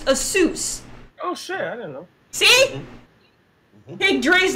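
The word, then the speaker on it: Asus: if you don't know the correct way to pronounce like a soos many Americans call it ASIS that's not the right pronunciation there's really a soos it's a suit because it's an Asian company it's pronounced a soos Oh see big Dre's like he probably called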